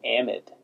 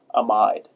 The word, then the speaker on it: amide: nitrogen containing group this is actually called an amid or sometimes you'll hear it referred to as an amide but it's amid is the way that I